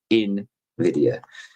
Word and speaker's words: Nvidia: I learned to say it the right way. I've been saying it wrong for a few years. Invidia.